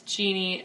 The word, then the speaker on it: Jeenie: Just so you know, it is Genie. It's spelled Jeenie. If you're interested in the app, it's Jeenie. Genie.